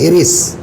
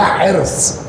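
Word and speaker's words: حرص: हमारे देहातों में कहते हैं हिरिस। बिहार में भी बोलते हैं हिरिस। लखनऊ में कहते हैं हिरस। जी हां। और सही तलफुज़ है इसका हस।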